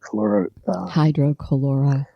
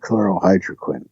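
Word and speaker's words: hydroxychloroquine: He says he's taking, I always mispronounce the name of this drug, hydrochloroquine. Hydrochloroquine. Yeah, there you go. You got it. Or is it chlorohydroquine? Hydrochloroquine. Yeah. Hydro first.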